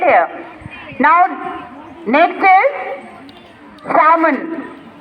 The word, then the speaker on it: salmon: आप लोग इसको कई लोग salmon बोलते हो. L is silent. It is pronounced as salmon.